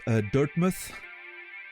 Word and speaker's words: Dirtmouth: Not sure if I come across as annoying, but I think it's pronounced Dirtmouth. Old-timey UK thing, like Innsmouth.